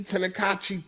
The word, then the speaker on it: Tenkaichi: Tenkaichi.